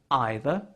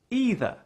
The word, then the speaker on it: either: also worth noting that both either and neither can be pronounced in two different ways either either what are the best